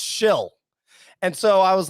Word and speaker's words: Schill: And so I was like, oh, it's spelled like SCHILL though, or something, right? Like it must be like some kind of name. They're like, no, it's spelled like SHILL. So I was like, okay, so your last name is literally Shill.